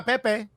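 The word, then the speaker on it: Pépé: he could play at arsenal but if nikola pepe because that's how we pronounce his name now if nicola pepe wants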